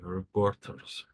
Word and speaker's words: reporters: the important word uh reporters okay reporters and which syllable in that word has the most power poor poor okay all right so